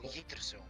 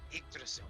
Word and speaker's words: Yggdrasil: Oh, Yggdrasil. Yeah. Yeah. Or Yggdrasil.